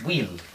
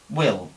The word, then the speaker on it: will: aquí con Will pues qué haría un hispano hablante pues decir Will Will no Will pero esta I es una I corta como la de If aquí entonces sería Will aparte tenemos la l que es más o menos como la catalana Will Will Will aquí tendríamos otro diptongo